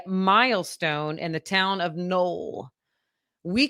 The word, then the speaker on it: Noel: Null is known as a Christmas city because it's spelled Noel, Nel.